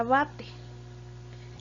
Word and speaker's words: abate: y el último ejemplo la palabra abate tiene el acento en la sílaba va va de verdad en la segunda posición de izquierda perdón de derecha a izquierda porque no la pierdo